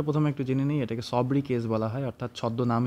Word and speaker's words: sobriquet: তো এটা একটা ফ্রেঞ্চ এক্সেন্ট। তাই এখানে যে টিটা থাকে টিটা উজ্জ থাকে। যখন উচ্চারণ করি আমরা সব কে অব্দি উচ্চারণ করে ছেড়ে দেই। ওকে? তো সব্রিকে ওয়ার্ল্ড সিটিজ এন্ডে স্রিকে সেটা আমাদের ফোকাসের বিষয় না।